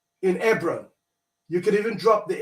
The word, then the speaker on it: Hebron: So I would say Hebron, E-B-R-O-N. It's the same Hebron. The H is silent in the case.